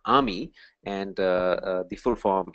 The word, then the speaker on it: AMI: called Army all right the pronunciation is uh Amy and uh the full